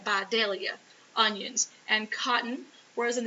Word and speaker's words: Vidalia: You got to say it right, Vidalia onions, and cotton.